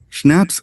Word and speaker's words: schnapps: that was the end of the matter schnapps pronounced schnapps a German drink made from grain cello a